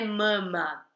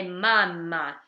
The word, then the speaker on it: mamma: La mamma, já dá pra ver que esse A é bem aberto, não é mama, é mamma.